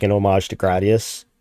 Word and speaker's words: Gradius: like an homage to Gradius or Gradius, however you pronounce that. I keep saying that. I think the Japanese pronunciation is Gurei Diasu.